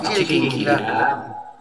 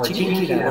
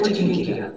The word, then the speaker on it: Chiquinquirá: No, es Chiriquinquirá. No, es Chiquinquirá. Bueno, la es Chiquinquirá. No, acá también es Chiquinquirá.